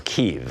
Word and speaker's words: Kiev: Trump and told him of his meetings in Kiev or Kiev as apparently that pronounced it and in in Ukraine the member